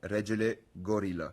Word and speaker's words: Regelegorila: Mais la vraie prononciation c'est regel gorilla.